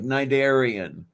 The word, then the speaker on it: Cnidarian: Like Cnidarian. It has an initial C.